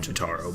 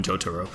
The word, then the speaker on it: Jotaro: part three so uh or joturo however you want to pronounce his name i call him chotaro but i know a lot of people call him joturo so it would be